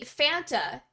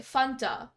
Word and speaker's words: Fanta: Okay, see, Fanta is the way you pronounce that word here in Canada, but I didn't know that for the longest time because my parents always pronounced it Fanta because that's the way you pronounce it, you know, in a Hungarian accent. So I always thought it was pronounced Fanta, and I didn't know it was pronounced Fanta here.